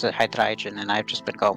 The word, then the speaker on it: Hydreigon: I've heard someone pronounce it Hydreigon, and I've just been going with that because it sounds cool.